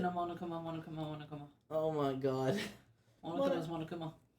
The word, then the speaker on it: Monokuma: No, I said it wrong the first time. I went Monokuna, so I was trying to fix it. Monokuma.